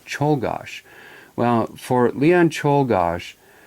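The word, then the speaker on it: Czolgosz: who's from Europe and he said it simply is Leon Cheol gosh well for Leon Cheol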